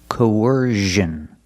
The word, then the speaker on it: coercion: vowels Co W Co coercion coercion put the stress on the second syllable coersion coercion is a